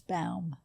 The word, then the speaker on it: Baum: a little nervous there spelled like b o w n but it's Bal got it and it's